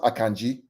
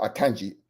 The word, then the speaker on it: Akanji: Just for you out there, it's pronounced Akanji, not Akanji, Akanji. It's a Nigerian name.